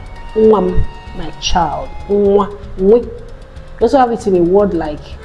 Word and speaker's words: nwa: So it is pronounced as we. And you have it in Igbo words like onwa. That means temptation. Even the very simple word you hear every day, nwa, a child.